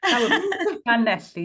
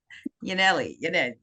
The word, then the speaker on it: Llanelli: of these pronunciations, of Llanelli. Oh, you're close there, Marianne. Llanelli, you got to spit it out through the teeth. Llanelli.